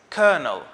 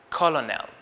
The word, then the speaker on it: colonel: i pronounce it as colonel because this is how it is spelled and i would never think that the l in the middle of this word is not pronounced or is replaced with